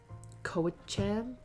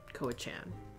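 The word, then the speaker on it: Cowichan: Koachan? Koachan.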